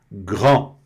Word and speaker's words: grand: Então, aqui nós estamos na pronúncia grand. Grand. Tá? Bem aqui na garganta, o R não tem, não tem outra forma. O R é sempre na garganta e a tradução grande.